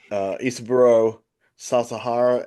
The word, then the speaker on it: Isaburo Sasahara: Let me make sure I get this pronunciation correct here. I want to do this guy justice. Isaburo Sasahara, and Isaburo is basically the head of a